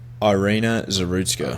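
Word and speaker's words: Iryna Zarutska: with the subway murder of how do you pronounce her name again? Ireina Zerutka. Arena Zerutska.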